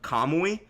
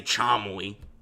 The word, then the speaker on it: kamui: And by the way, the common pronunciation of kamui is exactly how I said it. I didn't say chamui.